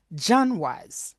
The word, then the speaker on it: genre: For example, we have that word which is gen is the pronunciation. It's a French word but also we use it in English but pron the pronunciation it's a kind of crazy.